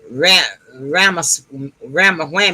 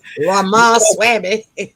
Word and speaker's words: Ramaswamy: She has some, and right now, her thing, what she's talking about right now, is this other candidate, Ramawhammy. I don't know how to pronounce his name. Ramaswamy.